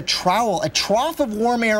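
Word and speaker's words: TROWAL: aloft it's called a trowel it's called let me spell it out for you t-r-o-w-a-l that's a trowel a trough of warm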